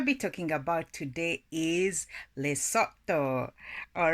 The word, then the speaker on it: Lesotho: As far as identification, the area now called the Kingdom of Lesotho, pronounced as Lesotho, was originally Basuto land.